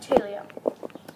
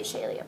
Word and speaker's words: Chalia: Chalia. That's how you say it. I used to say Shalia, but there's no S-H in it.